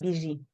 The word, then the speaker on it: Bibigi: Yes, it's Bibigi. So the G is soft. It's Bibigi. G. Okay. It's a francophone pronunciation. Bibigi.